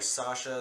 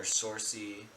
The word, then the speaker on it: Saoirse: They call her Sasha. They call her Sorcy.